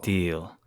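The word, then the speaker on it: Djil: uh the mysteries of Dil d j i l Mr House pronounced deal it might be deal okay that's that's uh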